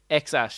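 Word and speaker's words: X Æ: Yeah, the other symbols that his girlfriend picked out, I'm not too sure, but it's pronounced X-Ash. So that weird AE combination is pronounced Ash and then 12.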